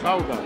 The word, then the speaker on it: Gouda: I think I mispronounced it, and all the Dutch viewers said it's pronounced Gouda.